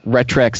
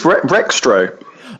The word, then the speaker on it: Rextro: itself, but you've got Retrex, 64ist, Cardos, so I always listen to Kongversation and hear you guys just mispronounce his name. We honestly had such trouble with that one. He's Rextro. Oh, did we get it wrong again?